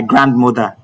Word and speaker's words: grandmother: Oh, she is my grandmother. No, the D is silent in grandmother.